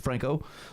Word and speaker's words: Franco: Like It's not Francoe, Franco.